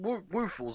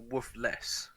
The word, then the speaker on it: Woofles: Is it pronounced woofles or woofless? I thought it was Woofless, but it is Woofles. Woofles. Okay, like waffles. Waffles.